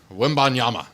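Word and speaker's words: Wembanyama: Victor Wimanyama.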